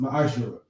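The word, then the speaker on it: מַעֲשֵׂר: Means tenth in Hebrew and is pronounced ma'ashara.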